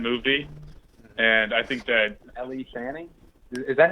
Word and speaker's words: Elle Fanning: Leading that movie, and I think that Elle Fanning? Is that how you pronounce it? Elle Fanning. Elle Fanning.